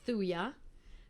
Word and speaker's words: Thuja: thuy is good enough the j is silent thuya thirty for um um